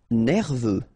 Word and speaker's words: nerveux: Nerveux. Final X not pronounced. E-U, E, V, nerveux. Bruyant.